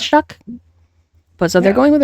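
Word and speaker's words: Tyler Shough: Yeah, on the Saints side of things, they have decided to go with, I believe his name is pronounced Tyler Shuck.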